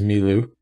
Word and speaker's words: Mi Lu: Just before we go on, I'm going to correct you and say his name is Mi Lu.